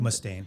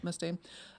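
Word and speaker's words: Mustaine: Is that how you pronounce his last name? Mustain. Mustain.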